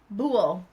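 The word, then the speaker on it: Buhl: Bu pronunciation. Bool.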